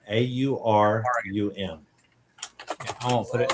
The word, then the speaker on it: Aurum: So the name again is Aurum, AURUM.